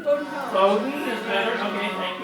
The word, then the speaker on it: Bowdoin College: Before that, she was a graduate of Boyden College. Did I pronounce that right? Bowdoin College.